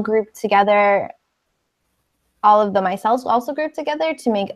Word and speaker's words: micelle: Oh, micelle. Michelle. Michelle. Michelle. Yeah. Michelle. Okay, micelle. Michelle. No, but it's my, like the I is pronounced like with a long I sound.